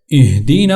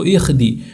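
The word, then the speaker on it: اهدنا: طور سے تلفظ ہوگا، اہدنا الصراط المستقیم۔ اسی طرح یہاں پر اس ہا کو اپنے اہدی، بعض لوگ اس کو اخدی وہ نقطے والا خا پڑھ لیتے ہیں، تو اہدی اس کو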